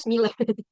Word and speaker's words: SMILE: ada Sipnap ya itu bukan bacanya bukan Smile ya teman-teman tapi bacanya Smila.